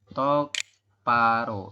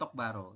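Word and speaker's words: 똑바로: robun seperti itu ya jadi eh dia berubah bunyi menjadi tok paro Seti bukan tok Baro ya Tok paroga Juseo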